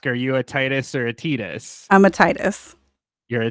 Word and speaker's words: Tidus: a Titus or a Titus I'm a Titus you're a Titus okay I I always said it Titus in my in my brain like because it's like the tide like he's Water Theme